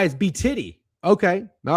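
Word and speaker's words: BTIDY: It's It's pronounced B titty. Oh, B T I D Y is B titty.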